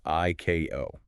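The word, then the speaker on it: ICAO: It says IC AO must be pronounced I ko and IATA is I ah dot.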